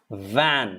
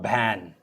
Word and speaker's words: van: listen to that carefully it's van van van it's not ban many people in assam